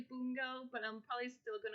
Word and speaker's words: Bungo: of my favorite animes and i call it bungo stray dogs but apparently it's pronounced boongo stray dogs and i just like realized that